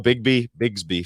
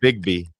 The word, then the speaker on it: Bigby: I always call Bigsby for some reason. That's what I thought the name was, Bigsby. What's it actually? It's Bigby. Bigby?